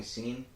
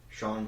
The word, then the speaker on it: Sean: He called me Scene. I was like, "Do you not know how to spell say how it's spelled like Sean Kingston or Sean Paul?"